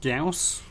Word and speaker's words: Gauss: fair enough joy station but it is pronounced gauss so that gauss is good as good as mine it doesn't really roll off the tongue you have to mispronounce gauss for it to be even close to guess i feel it's a